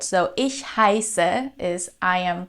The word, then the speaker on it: heiße: in high standard German, which is pronounced like a sharp S, like in the word for snow. Ich heiße. All right, so I don't say ich heiße, but ich heiße. It's a sharp S sound.